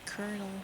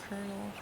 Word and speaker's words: colonel: Why is K colal pronounced colonel anyway? I wonder. It looks like colal, but it's colonel. I say colonel.